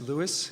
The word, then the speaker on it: Louis: Yes, Louis, it was how he pronounced his name. As his wife said, he wasn't French, in a context where that mattered. But of course, everybody knows him as Louis, and that's fine too.